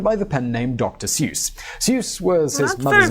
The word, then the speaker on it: Seuss: magazine and went by the pen Nam Dr seus seus was his mother's M name when he was born his parents made it his middle name in German it's actually pronounced Ze which I'm sure some commenter has commented in